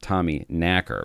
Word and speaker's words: Tommyknocker: actual Tommyknocker legend, which again turns out is pronounced Tommyknacker.